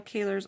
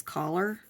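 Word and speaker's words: Kahler: A lot of people pronounce my name as Collar, but it's actually Kaler.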